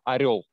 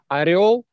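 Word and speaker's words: орёл: Орел, your pronounce орел is incorrect, yeah? Okay. It sounds like корол, king, king, and a different word. Okay. Yeah? You need to say орел, орел, не корол, а орел.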